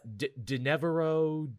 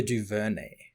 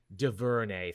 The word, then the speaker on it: DuVernay: Ava DeNevero, I can never pronounce her last name. Ava Duvernay. Duvernay, thank you, is actually developing, of all things, a Naomi show for the CW.